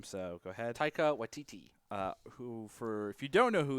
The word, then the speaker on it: Taika Waititi: I know you know how to pronounce his name, so go ahead. Taika Waititi.